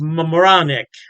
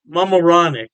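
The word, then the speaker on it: Mamaroneck: York state Poughkeepsie and I believe is pronounced moronic mamaronic yeah don't quote me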